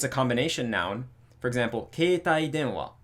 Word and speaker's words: keitai denwa: of the second component, which means that it's going to be on the de. So it's going to be keitai denwa.